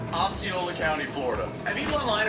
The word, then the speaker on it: Osceola: Osceola. Osceola, okay, we got that. Bro, what was this? Why did Google recommend him number 2? Osceola County, Florida.